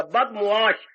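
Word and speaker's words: बदमआश: बुरी बदमाश होती है बदमाश शब्द नहीं होता बदश बद माने बुरा मुश माने व्यवहार जिसका व्यवहार बुरा हो जिसका आचरण बुरा हो बदमाश शब्द बोलती है पर ये उच्चारण गलत है बद मीम और ऐन दे के आगे छीन बदश अच्छा जिसका आचार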